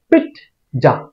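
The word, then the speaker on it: pizza: এটাকে আমরা উচ্চারণ করি পিজ্জা অথবা পিজ্জা পিজ্জাও না পিজ্জাও না এটার শুদ্ধ উচ্চারণ হবে পিট যা পিট্জা হ এর মত করে উচ্চারণ করতে হবে পিট্জা পিট্জা এটাকে আমরা নিয়মিত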